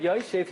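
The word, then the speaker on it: ישב: Even though we pronounce it Yoshev, he was sitting, but it's written Yashav, that he sat.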